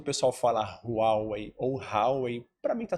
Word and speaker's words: Huawei: Mandarim, então ele tem uma pronúncia muito boa. Fala aí, Johnny. Huawei. Huawei.